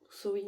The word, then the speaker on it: Samhain: Samhain, Samhain comme la manière de prononcer, est terminée.